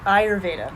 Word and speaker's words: Ayurveda: something I always mix up too it's okay Ayurveda Ayurvedic so I always spell it phonetically when I introduce it to people